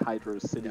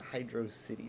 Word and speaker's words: Hydrocity: think Megamind is referencing Hydro City Zone. The joke is that he's an alien that doesn't know how to pronounce. Did you just call it Hydro City Zone? It's Hydrocity. It is Hydrocity.